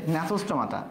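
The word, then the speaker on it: Gnathostomata: আর আমাদের যেটা নেতস্থমাতা ন্যাচোস্টোমাটা জি এর উচ্চারণ কিন্তু হবে না এখানে লেখা রয়েছে দেখো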